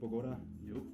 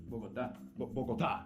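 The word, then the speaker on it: Bogotá: Diego, did I pronounce that right? Bogota? Nope. Bogota. Bogota.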